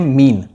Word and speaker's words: mesne: अंतःकालीन लाभ या मीन profit, जिसकी स्पेलिंग है MESNE, ये एक लैटिन शब्द है जिसको हम प्रोनाउंस करते हैं मीन।